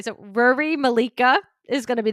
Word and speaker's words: Ruaridh: I think it's Ruaridh, like literally like Rory with a U.